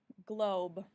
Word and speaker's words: globe: to find is globe globe that e at the end helps that o say its name it makes it a long o the next word i